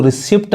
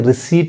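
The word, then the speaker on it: receipt: अब यहाँ देखिए, अब यहाँ पे देखिए इसको रिसिप्ट नहीं कह के रिसीट पढ़ेंगे, रिसीट, समझ मतलब।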